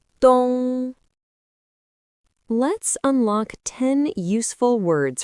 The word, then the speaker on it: 冬: It is pronounced in the first tone. Repeat after me. dōng, dōng, dōng.